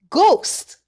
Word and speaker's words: ghost: G H says G. The H is silent. Ghost.